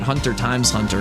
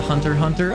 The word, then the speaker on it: Hunter x Hunter: I always called it Hunter times Hunter, and I've been corrected many times by that.